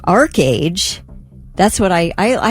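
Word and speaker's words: ArcheAge: massive multiplayer role-playing game Arch age it's called archage that's what I I I had to look up the pron pronunciation they said archage okay yeah and uh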